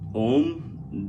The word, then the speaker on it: Om: here and it says now om is usually pronounced a m om if you pronounce it like that then that is that has all the syllables and all the power that